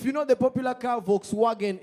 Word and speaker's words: Volkswagen: If you know the popular car Volkswagen, it's not saying Volkswagen, it's Volkswagen, you know. So the W and the V are pronounced the same, which was a very weird situation for a friend of mine from Uganda.